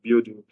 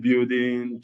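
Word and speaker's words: BUIDL: the new token which is the um the building which is spelled B U I D L.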